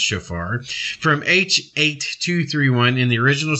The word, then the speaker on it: shofar: Strong's Concordance, H7782, which is pronounced shofar, from H8231 in the original sense, incising a cornet as giving a clear sound, or a curved horn, a cornet, a trumpet.